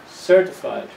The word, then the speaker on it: certified: Here's another form of the word, certified. The first syllable is the strong one, certified accountant.